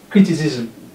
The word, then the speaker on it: criticism: Alright, we have criticism.